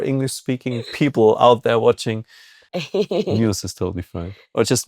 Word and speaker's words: Neuss: Yeah, you can Am say I saying news. this right? In Germany, it would be noise, because EU is like pronounced oi, but in America, EU like use.